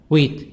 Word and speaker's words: wheat: these are the words of exercise number 7 cattle t soft d cattle livestock corn corn wheat each silent wheat a plant is used